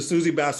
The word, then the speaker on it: Susie Bass: So let me make sure I'm pronouncing this right. Is it the Susie Bass Award? It's the Susie Bass Awards.